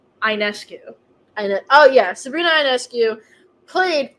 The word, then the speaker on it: Ionescu: I pronounce her last name Ionescu.